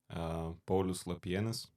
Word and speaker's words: Paulius Lapienis: Paulius Lapienis. All right, Paulus the penis.